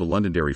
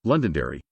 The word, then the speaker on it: Londonderry: its BBC counterpart except the word Londonderry in which the first six letters are silent when performing in the